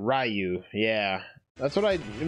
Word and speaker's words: Ryu: than me I think the true Japanese French pronunciation is that it's basically one syllable not two syllables like ryu and not ryu yeah that's what i